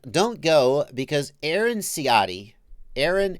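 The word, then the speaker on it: Ahren: And don't go because Aaron Ciotti, Aaron, A-H-R-E-N, but pronounced like A-A-R-O-N.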